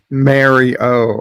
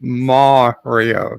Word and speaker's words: Mario: uh the other day Mary o oh cuz I'm pronouncing it wrong yep I'm sorry excuse me you are correct okay fine Mario 64 Mario I'll give you 50